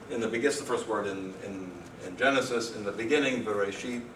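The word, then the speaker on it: בראשית: So this is the word, the first word in Genesis, in the beginning, Bereshit, that's modern Hebrew pronunciation.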